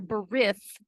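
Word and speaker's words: בְּרִית: his servants in Hebrew a berit or bereth because this T is going to be pronounced th is a promise that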